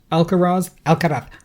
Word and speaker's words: Alcaraz: And then the speed with which he went through, it's Alcaraz. Yeah, we know. We get that you know how to pronounce it correctly.